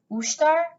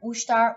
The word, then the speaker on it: ushtar: ustar she says back it sounds so strange to me to hear an american person pronounced an albanian word mushtar ustar ustar matsu says again the way she says it it makes the word soldier sound like a silly song we start with star